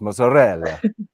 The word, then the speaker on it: mozzarella: Sorry, you got to pronounce it right. It's mozzarella. There's no T.